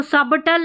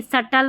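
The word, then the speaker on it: subtle: इसको सबटल नहीं सटल बोलते हैं। बी साइलेंट है।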